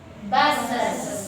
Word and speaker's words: buses: Buses. Nah, dibacanya penuh ya, buses.